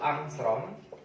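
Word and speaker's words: ångström: Nah, ada yang tahu berapa nilai angstrom? 1 angstrom dibacanya angstrom, yaitu 10 pangkat min 10 dalam satuan meter.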